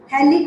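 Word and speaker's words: phthalic: थैलिक की spelling आप लोग पहले सुनिए। इट इज PTHALIC। थैलिक में जो P है वो साइलेंट है, इसलिए हम लोग बोलेंगे रिएक्शन विद थैलिक एनहाइड्राइड।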